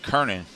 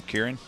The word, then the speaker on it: Kernan: That's Derek Kernan. How you say his name, Kieran? Kern. So we'll take out the I, just Kern.